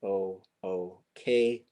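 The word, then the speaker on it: L'ook: And that's L apostrophe O O K. So we pronounce that one ook.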